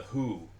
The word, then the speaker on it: Hu: a Mongolian metal band called the Who. It's spelled HU, and I've listened to a couple of their other songs, and they're the coolest sounding metal band.